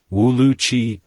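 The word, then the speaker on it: 五六七: Our baby's nickname is 567, it's pronounced Wu Lu Qi in Chinese, and since my last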